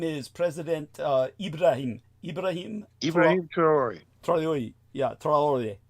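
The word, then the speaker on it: Traoré: Ibraim Ibrahim Trayori. Yeah. How do you pronounce it? Trayori.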